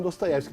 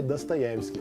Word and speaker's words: Dostoevsky: Irineu Franco Perpétuo eu cresci com dostoyevski mas na verdade é dostoevsky que se fala né É porque em russo o o só é pronunciado assim quando ele é acentuado quando ele é a ele é a então é dastes que aliás estampa a